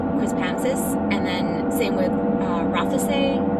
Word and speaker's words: Quispamsis: We call it Quispam, but it's actually called Quispamsis.